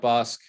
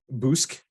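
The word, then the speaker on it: Bossk: So we got Bosk. Bosk is okay. Sorry, you're pronouncing it wrong. Boosk. The Boosk.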